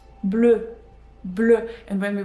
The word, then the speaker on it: bleu: We add E at the end for feminine words, but it is not pronounced. So you will not hear the difference. It's pronounced the same, but you will see